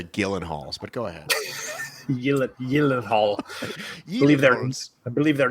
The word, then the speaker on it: Gyllenhaal: it's a soft g i'm pretty sure they're the gillen halls but go ahead believe